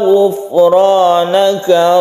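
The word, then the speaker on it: غفرانك: wa qalu sami'na wa ata'na ghufranaka rabbana wa ilaikal masir. Ada sukun ro sebelumnya kasroh, tipiskan membacanya, disebut ro tarqiq. Kemudian hati-hati di ghufranaka. Ghufranaka fa-nya bukan qalqalah, jadi jangan dipantulkan.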